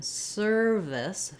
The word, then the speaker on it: service: And the only real difference between these two is that in service, the V sound, is voiced, versus surface, the f sound, is voiceless.